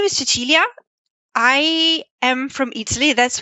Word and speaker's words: Cecilia: a lot, it's like, it says Cecilia on the screen, but you just said something completely different. That's how I pronounce my name in Italian, so Cecilia.